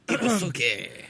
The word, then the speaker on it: Ibusuki: and a boat ski in Ibusuki, is how that would be pronounced. Ibusuki.